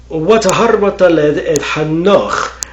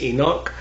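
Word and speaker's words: חנוך: Hano and she conceived and she bore Hano. Uh I I think English translations or or the English pronunciation of that name is Enoch uh in in at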